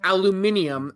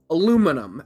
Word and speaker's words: aluminum: know why the Britons call it aluminium and we call it aluminum, as it should be pronounced?